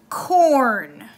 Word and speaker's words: acorn: with a vowel, but it is a multi-syllable word where it stands alone and it still says its own name, A. So here are a few examples. Acorn.